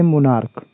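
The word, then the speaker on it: monarch: अपवाद है नोट है यदि सीच का उच्चारण क से हो क से होता है तो वहां पर केवल एस जोड़ते हैं ना कि ईस जैसे मोनार्क यहां पर मोनार्क में सीच का उच्चारण को से हो रहा है इसलिए यहां पर केवल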